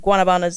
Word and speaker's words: Guanabanas: Well, Guanabanas is the, I'll say Caucasian way to say it.